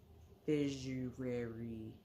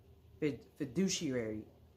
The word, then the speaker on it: fiduciary: relationship and I'll do my figary fiduciary I said it right fiduciary duties as far as